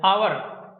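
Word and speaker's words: hour: ठीक है, इन नाउन्स में एच साइलेंट है, इन सभी नाउन में क्या है, एच साइलेंट है। ठीक है, इसको बोलेंगे ऑनेस्ट, ओ नेस्ट, ऑनरेरियम, ऑनरेरियम ये हो गया, आवर, एयर, एरेस, ये है। देखो कहीं भी एच की ध्वनि नहीं आ रही है, एच का मतलब है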